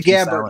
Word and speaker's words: Gabbert: Jazzy Gabbert.